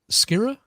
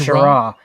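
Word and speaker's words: Schirra: Walter Skira. Shara. It's pronounced Shara.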